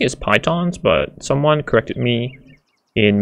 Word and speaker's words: pitons: I've been pronouncing it as pitons, but someone corrected me in my 9 tips for beginners video and said it should be pronounced as pitons. Like a P-E-E, P, as though you're peeing, and tons.